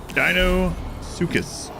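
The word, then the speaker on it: Deinosuchus: It's pronounced dino sucus crocodile.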